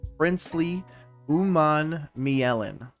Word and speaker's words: Princely Umanmielen: Again, I'm going to enunciate it for all the people in the back. Princely Umanmielen. And again, that's something directly from him.